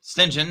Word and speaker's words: St. John: It's how they pronounce it. It's St. John Yeah. Okay. is Ah. how you say it, but they pronounce it St. John for some reason.